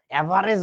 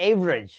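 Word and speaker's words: average: অ্যাভারেজ না, উচ্চারণটা হচ্ছে এভারেজ।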